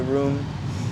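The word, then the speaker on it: Rume: Um, some people will say roomie, I guess, cuz how it's spelled. It's spelled R U M E. Um, but I have a question mark in it cuz my name's really like a question, too, cuz it's it's room, but it stands for are you me?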